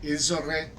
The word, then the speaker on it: ils auraient: So they, it is pronounced like I. J'aurais, ils auraient.